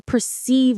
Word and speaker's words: perceive: image and trying to perceive what it is. Or perceiving someone's intentions. The stress is on the second syllable, see. Say it with me. Perceive. It's like per and then see as in receive.